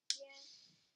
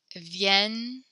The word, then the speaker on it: vienne: Can you say vienne? Vienne. Vienne. Good. When we have the double N, it makes a kind of like a longer N sound.